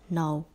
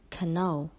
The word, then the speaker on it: knoll: Don't forget the letter K in knoll. It is not pronounced as canoe.